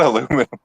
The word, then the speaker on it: aluminum: They're both just said but you just said aluminum. They're both correct.